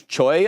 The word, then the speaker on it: CHUY: CHUY, it's not Chewy, it's Choi.